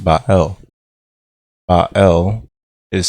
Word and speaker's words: Bael: the spirits you find the name bael pronounced by el ah el is said